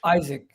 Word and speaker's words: Isak: Is it Isak or Isaac, or how do you pronounce his name? Isaac.